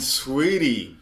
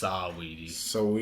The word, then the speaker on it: Saweetie: Quavo and Sweetie broke up. Man. I think it's pronounced Saweetie.